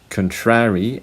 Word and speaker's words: contrary: It's the same for this one. Contrary and contrary are not the same.